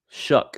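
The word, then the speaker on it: Shough: Shuck is how you say the last name. Tyler Shuck for the New Orleans Saints quarterback. I've been calling him Tyler So.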